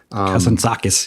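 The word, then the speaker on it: Kazantzakis: Is it Kazantakis? Kazanakis. Yes. Kazanak. Yes. I'll leave you leave it to your good pronunciation in in from his poetic the Odyssey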